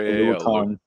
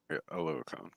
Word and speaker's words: Oluokun: Stepping into, I'm not even going to try and pronounce Foy's last name. Yeah. Foye Oluokun. Oluokun.